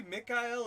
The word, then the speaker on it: Mikkel: is Mikkel yeah maybe Mick il is how you say Mike in German problems I mean they